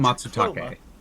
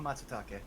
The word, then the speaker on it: Matsutake: Here we have Tricoma Matutake. Yeah, Tricoma Matsutake. All right. Rico breezes through the Latin and Japanese pronunciation as if it was nothing.